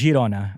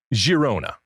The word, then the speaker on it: Girona: All right, so we're gonna go with Girona. Yes. Like the je sound. Or Girona. Or Girona.